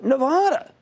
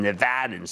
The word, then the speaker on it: Nevada: I got a lot of criticism from Nevadans this week that I should pronounce it like I'm from Philadelphia, which I am. It would be Nevada, you know, if you're 10 from 10th and South or from 3rd and Arch.